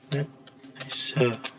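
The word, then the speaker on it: netsh: Kemudian ada NES, digunakan Netesa, bacanya Netesa ya.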